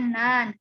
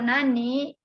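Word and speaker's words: 何: Ini kanji yang nomor 4 ini dibacanya nan. Artinya apa? Fungsinya untuk menanyakan apa tadi? Kalau nan, menanyakan apa? Menanyakan kata benda. Ya. Nan atau nani fungsinya menanyakan benda.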